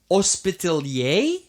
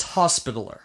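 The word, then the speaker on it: hospitaller: multiple times and it's it's spelled hospitaler and i thought it should be hospitalier and i'm still stumbling on that but but it's not it's hospitaler hospital or sounds like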